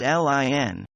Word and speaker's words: Lin: It's spelled L-I-N. R-I-N? My pronunciation is not very good. It's L-I-N, Lin.